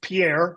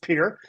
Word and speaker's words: Pierre: I grew up in a town called Pierre, which should be pronounced Pierre, but it's pronounced Pierre.